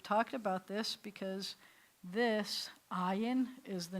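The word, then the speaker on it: עין: So this one starts with a silent letter too. We've talked about this because this, ayin, is the name of the letter, and it's the name of your eye.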